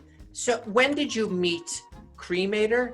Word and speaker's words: Cremator: when did you meet cremator is am i pronouncing that right yeah like a cremate so i met cremator